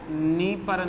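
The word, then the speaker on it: Dnieper: निस्टर, नीपर और done, ये तीनों 3D के नाम से। डी यहाँ साइलेंट है, ध्यान रखिए आप।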